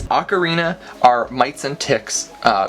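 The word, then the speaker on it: Acarina: akathen cepha fans yeah ocarina ocarina it's not spelled like that but it's spelt like this ocarina are mites and ticks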